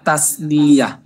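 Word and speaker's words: تثنية: এরপরে আসেন দ্বিবচনকে আরবিতে বলা হয় তাসনিয়া, তাসনিয়া। ঠিক আছে? বাংলা লিখতে গেলে তয় আকার দন্তের স তাস হয়ে যায়, কিন্তু দন্তের স কিন্তু বাংলায় স্বর উচ্চারণ দেয়।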